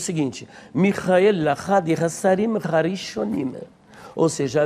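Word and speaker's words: מיכאל: O nome, na verdade, ele vem do hebraico Michael, e tanto no grego quanto no hebraico a pronúncia é justamente esta, Michael, Michael.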